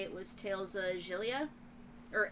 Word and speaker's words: Xillia: Porange is actually a reference to, I want to say it was Tales of Xillia, or Exilia, how some people pronounce it, which just sounds wrong to me.